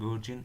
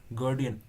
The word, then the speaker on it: guardian: এটাই গার্জিয়ান Angel, গার্ডিয়ান, আমরা বলি না গার্জিয়ান মানে অভিভাবক, তার উচ্চারণ কিন্তু গার্ডিয়ান। এটা লেখা আছে তাহলে তাই উচ্চারণ, আমরা কিন্তু বৃথা গার্জিয়ান উচ্চারণ করি।